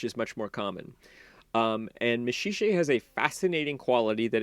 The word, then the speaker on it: Maxixe: a false friend, is a boy named Meshiche, which is spelled Maxixe. And Meshiche is in fact a mineral.